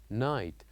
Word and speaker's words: knight: And finally the last word we learned last time which is knight. Night. The G and H. We write it here. Yes, but they are silent.